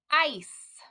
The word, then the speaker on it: ice: ground in the winter but if we sounded it out we might say i ca right because c's make k not when there is an e right after it so